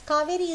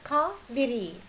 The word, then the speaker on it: Kaviri: And the way it is pronounced now as Kaveri is also wrong, because we find it pronounced as or written as Kaveri in all Sangamage texts and in the text until a few hundred years ago. It was Kaviri, Kaviri Pumbatinam, Kaviri Kare